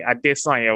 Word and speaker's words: Adesanya: Israel Adesanya, actually. Adesanya will be the way to pronounce it.